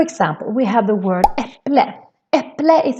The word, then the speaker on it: äpple: It's written with the a with two dots, but still we pronounce it as an e, as a short version of the e. Äpple.